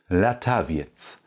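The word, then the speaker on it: latawiec: auf polnisch latavia jetzt latavia mit schönen klaren Vokalen la tavires und die Endung IEC werden auch komplett so gesprochen jetzt lataviac der Drachen der Drachen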